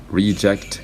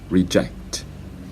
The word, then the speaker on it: reject: same for this one reject and reject so reject is a noun reject is a verb so let me let